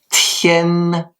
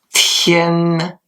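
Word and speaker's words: 天: Il faut qu'il y ait du souffle. Allez-y après moi. Tien. Voilà. Tien. Très bien. Vous pouvez donc maintenant utiliser les deux caractères d'aujourd'hui en disant Liang Tien, 2 jours.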